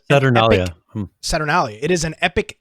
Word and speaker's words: Saturnalia: Had the pronunciation there. Now it is Saturnalia.